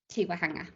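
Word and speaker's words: Te Waihanga: Since July 2022, she was been the senior advisor to, now you'll have to see if I pronounce this right, Tiwahanga? Tiwahanga, thank you, sorry.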